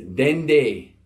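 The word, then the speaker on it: dede: character the letter D it's got an unwritten N before so this word is spelled de de but we put that in before that second day so it's been day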